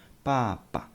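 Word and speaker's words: 爸爸: Father and mother, please focus on the neutral tone. Papa and mama.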